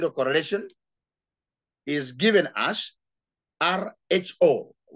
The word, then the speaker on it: rho: The formula for getting the Spearman coefficient of correlation is given as RHO, pronounced as rho, equals to 1 minus